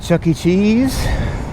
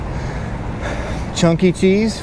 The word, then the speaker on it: Chuck E. Cheese: We're at Chuck E. Cheese. Chunky Cheese for you kids that can't pronounce it right.